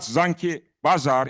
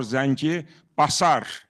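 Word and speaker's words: Zangibasar: It's not Zanki Bazar, it is Zanki or Zanki Basar. Basar, not Bazar, but of course, an Armenian could misspell it or mispronounce it.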